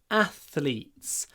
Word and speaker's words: athletes: athletes train a lot athletes again to get a good th try to bite the sides of your tongue a a a athletes